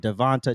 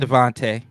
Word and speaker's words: DeVonta: Brown, and Devonta. Do you say Devonta? Is that how you say his name? Devontae. Okay, if it's Devontae, why put an A on the end of it?